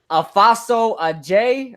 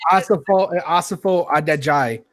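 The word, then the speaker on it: Asafo-Adjei: And let's start with obviously the first guy there, George Afaso Ajay, whatever. No, it's Asafo Adejai.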